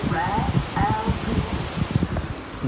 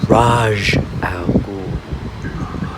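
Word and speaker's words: Ra's al Ghul: Am I pronouncing this right? Mr. Raz Al Ghul? No, you are not pronouncing it right. It is Raj Al Ghul.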